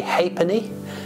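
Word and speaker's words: ha'penny: a penny it was more commonly called a haypony an alternative pronunciation which became more commonly used than half Pence perhaps because it rolls off the tug a bit easier it would also be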